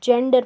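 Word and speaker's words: gender: जैसे इसको गेंडर नहीं पढ़ेंगे, जेंडर पढ़ते हैं।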